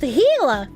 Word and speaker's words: Gila: cute they're very cute Gila is pronounced hila no that's Ethan Klein's